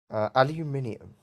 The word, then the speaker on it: aluminium: you want to so technically yes aluminium see that one i say correctly and americans don't because americans deliberately misspelled it without an eye and that became how you pronounced it so bottle of